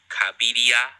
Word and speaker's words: Cabiria: Speaking of, I've just received a pronunciation guide. Oh, Cabiria and Machiste.